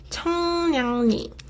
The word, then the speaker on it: 청량리: 청량리, 청량리. Ni. So when 이응 받침 is followed by 리을 consonant, 리을 sound gets replaced with 니은 sound.